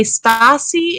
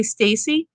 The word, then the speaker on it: Stasi: and some people say stasi and some people say stacy i'm going to pronounce it stassi met lisa stasi and